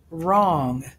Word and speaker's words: wrong: what is this word which letter is silent w what does the w usually sound like how does the r change the sound in wrong yes it makes the w silent practice 2 make connections